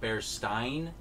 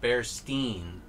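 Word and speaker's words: Berenstain: uh bears berestine bears is supposed to be pronounced bear stein bears and it said that's and that who said that's how it was also marketed as i mean but i always heard bear steam i think i never had that mandela effect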